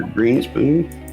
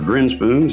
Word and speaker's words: Grinspoon: this week by our very special guest Peter greenspoon or grinspoon sorry uh I'm sure you have that happen